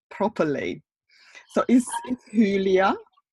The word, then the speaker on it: Hülya: Yes, it's Hülya. I have got like double dots on the U, like a German letters. Yeah. So it's Hülya, yes.